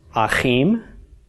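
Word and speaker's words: אחים: mem and this word will be pronounced Hakeem and Hakeem means brothers okay another example Dalit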